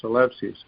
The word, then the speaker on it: Eleusis: Eleusis. Oh, Eleusis. ELEUSIS. Yeah. So I was pronouncing it in modern Greek, and you're taking it back to ancient Greek.